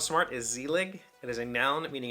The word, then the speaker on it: Zelig: Zelig. Z-E-L-I-G. I think I said zelig. I don't know. It's zelig, I think. Just with an emphasis.